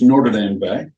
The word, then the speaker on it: Notre Dame Bay: It's pronounced Notre Dame Bay.